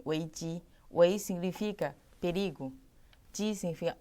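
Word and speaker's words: 危机: Sim, em chinês se pronuncia em weiji.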